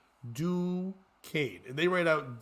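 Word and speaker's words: Duquesne: Catholic University located in Pittsburgh the school is pronounced do Kan and they write out d o o dash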